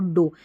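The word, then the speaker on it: dough: और ये जो डो स्पेलिंग है ना यहां पर जी एच साइलेंट है। ठीक है? साइलेंट है।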